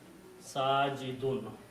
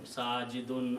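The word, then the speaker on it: ساجد: The actual words are, they end up with the sound of two dhammas or sound of noon, sajidun, abidun, hamidun, mahmudun, all those. And then when we speak, we can say sajid, but the actual word is sajidun, because we stop it.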